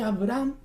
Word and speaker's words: Abraham: Abraham le puso una H. Una H mudita, que ni siquiera se pronuncia.